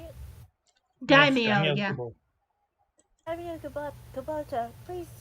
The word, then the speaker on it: Daimyo: Daimyo, yeah.